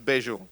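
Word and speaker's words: Bejo: bags bags bags या या बस बेजो बेगस बेजो very good thank you so much ladies and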